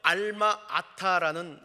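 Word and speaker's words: Алма-Ата: 있습니다 왜냐면 민족 종교가 이슬람교이기 때문에 그렇습니다이 알마티는 알마 아타라 그런 이름의 주말 영어발음이 알마티이 말로는 알마 아입니다 알마는 사과를 말합니다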